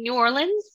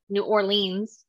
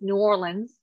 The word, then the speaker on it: New Orleans: Yeah, I was in New Orleans, which I'm pronouncing it correctly now. I used to pronounce it New Orleans, but it's New Orleans.